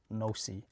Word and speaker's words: noC: Okay, so the first stuff that the language is pronounced NoC, is that the name actually wasn't created by me.